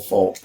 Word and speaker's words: Fultz: It's Fultz, right? It's pronounced Fultz.